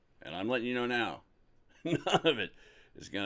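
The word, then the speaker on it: knowe: It's known as the fairy no the hill of the good people. Now this word no k n o we e. I've also heard it pronounced null and it means like a hill.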